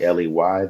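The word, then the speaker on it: Westley: Yeah, man, my name is Wesley, Wesley. The T is silent.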